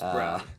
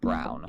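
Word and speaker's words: Braun: do you pronounce this man's name it's it's brown it's brown because it's spelled Brun it's spelled Brun but it's pronounced Brown yeah weirdo for real why you confusing us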